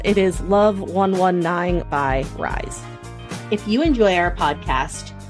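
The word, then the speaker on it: RIIZE: week I'm going to recommend love 119 by Rise and it's spelled r i i z e all capital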